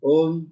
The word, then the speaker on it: ओम: इस पूरे ओम के उच्चारण में मैंने सिर्फ ध्यान से सुनिएगा, ओ, इसमें म है ही नहीं, लेकिन है ये ओम।